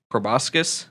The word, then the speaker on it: proboscis: Vril lizards have a natural proboscis. Is that how that's pronounced?